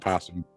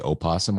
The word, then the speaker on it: opossum: in his uh yard it's pronounced possum it's spelled opossum you can say either and that is a fact you can say opossum or possum i've never